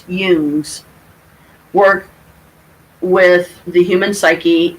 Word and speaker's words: Jung: theories incorporate a great deal of carl jung's pronounced hughes work with the human psyche and collective unconscious